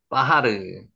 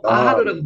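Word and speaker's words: בחר: 바하르. 하르가 산이죠. 요게 바하르 선택하다는 뜻입니다. 한번 해 보세요. 바하르. 바하르. 발음할 때는 빠하르라고 발음하셔도 됩니다. 바하르. 실제로 적을 때는 바하르라고 찍어 놨지만 바하르 선택하다는 뜻입니다.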